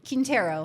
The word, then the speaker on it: Quintero: What's the proper pronunciation of your last name? Quintero.